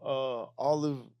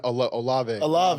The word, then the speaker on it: Olave: Olive. I know, Olave. Olave. I keep saying his fucking name wrong.